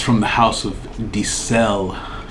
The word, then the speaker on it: Di Ser: And it's from the house of Dicel. It's spelled like Dicer. I'll put it up on the screen, but it's pronounced Dicel.